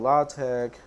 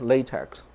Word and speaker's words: LaTeX: notes and publications in mathematics so it's called La tag type setting this will give me the correct